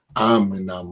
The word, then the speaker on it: Aminah: and to tell her it's spelled Aminah, but I don't want her pronouncing it that way. Tell her I want her to pronounce it Aminah."